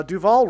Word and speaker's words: Duval: Uh Duval rhymes with Hall.